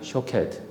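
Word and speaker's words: שׁוֹקֵד: 살구는 샤케드이라고 부르고 깨어 있다라는 거는 쇼케드 같은 단어인데 발음만 다를 뿐이에요.이 의미는요.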